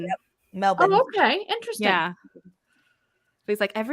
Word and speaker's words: Melbourne: Francie was teaching us that it's not Melbourne, it's Melbourne. Yep. Melbourne.